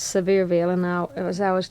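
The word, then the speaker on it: Sevierville: but it's actually pronounced sever Veil and I as I was telling you a good way to remember it is to think of something very severe like Dolly Parton no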